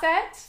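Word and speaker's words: Auset: Goddess Isis goddess is AET okay AET that's how the way you spell it is a u s e t and that was the original like pronunciation Egyptian name for her yes so she is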